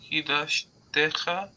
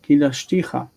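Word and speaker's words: קִדַּשְׁתִּיךָ: Kidashtecha. Ticha. Kidashticha. Not techa.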